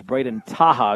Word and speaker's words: Braden Taha: Here's Braden Taha is the correct pronunciation.